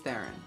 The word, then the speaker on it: Theron: it's a long story I go by tharen but it's the real pronunciation pronunciation of my last name is thr which is really hard for people to say okay I will Le